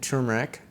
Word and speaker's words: turmeric: thyme, bay leaf, cumin, turmeric. I always say turmeric, but like I need to start pronouncing the R in there.